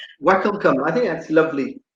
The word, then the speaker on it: Wakelkamp: So it's, well, in Dutch it's Wakelkamp.